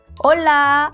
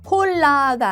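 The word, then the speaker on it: hola: 아체 올라 안녕. 요것도 이미 아시는 분들이 꽤 있을 것 같은데요. 스페인에서 아체는 무음이에요. 그러니까 항상 홀라가 아닌 올라로 발음하는 거 잊지 마세요.이 이실라 어렵지 않았죠.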